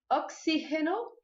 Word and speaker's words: oxígeno: Anestesia, oxígeno no lugar de oxigênio, terapia no lugar de